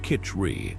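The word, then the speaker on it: khichdi: Kiti pronounced kitri.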